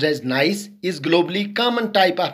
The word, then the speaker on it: gneiss: Next is metamorphic rock, that is known as gneiss, pronounced as gneiss, is globally common type of metamorphic rock that can easily identified by its alternating layer.